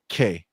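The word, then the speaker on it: kei: He says, CMoney, it's K car pronounced K.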